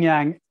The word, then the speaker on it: yang: And so, yeah, the yin yang depicts a pair of opposites. The white is yang. And if you think about your white fang, rhymes with yang, you now know that white is yang, and then yin is black.